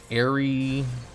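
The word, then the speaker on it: Ariadne: Ari-and-ni. Ariana is pronounced like that. Ari-adni. Ari-adni? Is that how you say it? Ari-adni? Ari-adni. Ari-adni. Is it seriously ni and not like nay?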